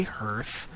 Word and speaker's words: Hearth: Hearth there my Hearth do you say Hearth or Hearth I say I say Hearth only because it's spelled the same way as Earth so Earth hear I don't